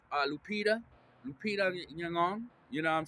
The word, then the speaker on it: Nyong'o: Lupita Nyong'o. You know what I'm saying? Ngong, Gong is the way you pronounce that, family.